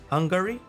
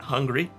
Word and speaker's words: Hungary: Hungary. Yeah, that's at least how you say it, not hungry.